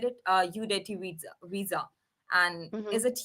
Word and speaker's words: Udeti: I mean, because I said it UDETI visa, and Hmm.